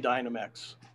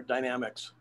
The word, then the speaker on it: Dynamex: the court's decision in dynamex um or dynamics it's pronounced either way here in the state in california but yeah i was